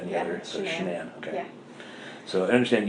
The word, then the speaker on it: Shanann: All right, so I understand that you are pretty good friends with, is it Shannon or Shanann? It's Shanann. You pronounce it like shenanigans.